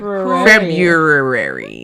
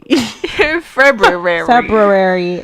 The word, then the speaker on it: February: Isn't there an extra R in it? Yeah. Oh. I used to always say that. February. February.